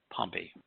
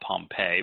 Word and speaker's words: Pompey: bribes the roman general pompey sometimes called pompeii but i think pumpy is the proper pronunciation yeah i think so